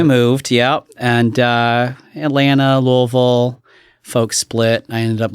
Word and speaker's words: Louisville: real quick you said Louisville how' you pronounce it yeah you always have to pretend like you got water in your mouth and you're talking you don't want it